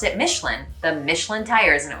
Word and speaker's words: Michelin: basically in this word one of the big differences is the end of it with that n sound so the way that we would say it in the us you would put a lot of enunciation on the n then the french would say that they're pronouncing the n